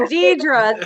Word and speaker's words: Dedra: That's Dedra. It's actually Dedra.